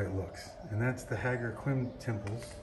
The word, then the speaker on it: Ħaġar Qim: looks and that's the haggar quinn temples i say quim but it's not quim and this is the